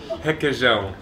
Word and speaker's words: requeijão: Requeijão. Again? Yeah, for real? That's an R at the start. I know. It's because the R in Portuguese is weird, but it's he, que, que, jean. Jean. Requeijão.